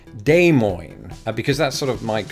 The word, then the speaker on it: Des Moines: I pronounce it now you're probably thinking that I've been pronouncing all this time has Des Moines no not the case not the case in fact I learned years ago that those s's were very much silent in this word just because of the